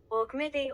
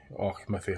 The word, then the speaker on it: Auchmithie: Auchmithie, Auchmithie. Auchmithie, Auchmithie. So Auchmithie is seemingly what it's pronounced like.